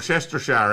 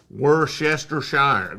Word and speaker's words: Worcestershire: where's your shine or Chester Shire actually Worcestershire that is the the proper pronunciation of that word Chester Shire it doesn't feel right so we'll just call it worser but it's Worcestershire Worcestershire yes yeah that one's